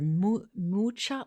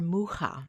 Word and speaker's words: Mucha: this is an artist either Mucha or muha you hear them both depending on where you live in the world you'll hear those both pronunciations and of course I